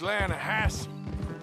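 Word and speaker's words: Lannahechee: You mean the Lanahashi River? No, no, no, no, no, no. The the Lanahhatche. It runs right near here. Yeah, but it's pronounced Lanahassee.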